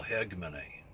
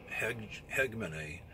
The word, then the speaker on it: hegemony: It's geopolitical, what you call hegemony. H-E-G-E-M-O-N-Y, I think is how you spell that. It basically means control. When you have hegemony, or hegemony, but some people pronounce it with the H silent. Hegemony, geopolitical hegemony.